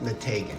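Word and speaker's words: Meteghan: tank and the taking because that's how you pronounce it mategan yes okay I watched so special about mategan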